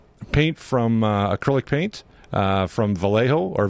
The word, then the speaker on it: Vallejo: premium uh premium paint from acrylic paint from Vallejo or Vallejo is that's how it's pronounced Aztec dummy Lou delmaso I want to